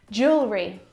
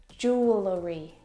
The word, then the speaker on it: jewelry: pack my clothes tonight Jewelry jewelry jewelry again we've got an extra vowel here that we don't need to pronounce we don't say jewellery jewellery it's just jewelry